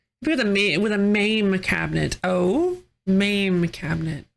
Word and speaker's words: MAME: a ma with a maim cabinet. Oh, ma'am cabinet. Or is it pronounced mame? Like edamame.